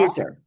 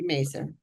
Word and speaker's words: Mazar: that's Debbie and how do you pronounce her last name? Mazar? Mazer. Mazar. Mazer. So Debbie Mazer.